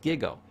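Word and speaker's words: GIGO: going to teach a computer term it's called giggo It's pronounced giggo g-i-g-o garbage in garbage out data in is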